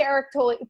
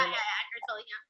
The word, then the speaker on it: Eckhart Tolle: I would say Eric Tolle. Eric, I can never say his name. Yeah, Eckhart Tolle, I would say he's